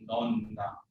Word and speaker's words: nonna: Nona and nonna. Okay. Ninth. So you say I know the ninth of Beethoven. You say you know the ninth symphony of Beethoven from Scola No. wrong, you say, conozco la nonna di Beethoven, then you are saying, I know